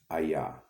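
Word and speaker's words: אהיה: Moses came to the children of Israel in Egypt, and he brought one name, and that name is pronounced Ayah.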